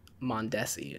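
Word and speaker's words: Mondesi: and Mom and Aussie actually he's on the mondessi is how you pronounce his name I'm gonna bring him up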